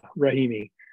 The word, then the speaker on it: Rahimi: So could you just comment, I guess, ask you to comment on the Romney case? Yeah. That's how it's pronounced, right? Yeah, Rahimi. So it's a pretty extraordinary case for a variety of reasons.